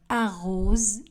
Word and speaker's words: arrose: Le S du verbe arrose sera prononcé comme Z.